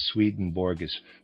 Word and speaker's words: Swedenborg: what he took from Swedenborg's writings. Readers aside, I realize Swedenborg is properly pronounced something like Swedenborgi, but I'm going to pronounce it in the regular way.